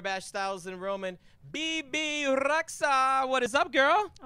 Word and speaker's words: Rexha: Oh, okay, but in Albanian, it's Rexha. Yeah, Rexha.